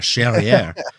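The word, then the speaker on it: Charrière: Charriere. Rhymes with derriere.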